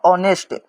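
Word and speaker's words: honest: अब देखिए इसमें एच को हम लोग साइलेंट करेंगे। एच को हटा देंगे। यह हो जाएगा ऑनेस्ट। ऑनेस्ट इसको ऑनेस्ट पढ़ेंगे।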